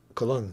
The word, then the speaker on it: Colón: So, Colón. Cristóbal Colón. That's how you say it in Spanish.